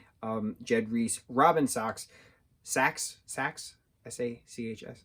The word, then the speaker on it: Sachs: Jed Reese, Robin Sachs, S-A-C-H-S, Sachs, Robin Sachs, Patrick Breen, Missy Pyle, Justin Long, Rainn Wilson.